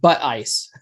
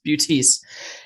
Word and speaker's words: Buttice: It's hard to pronounce. It's not Buttice. It's Buttice. Anyways, Joe is a good guy, but I originally had his episode scheduled for a certain night.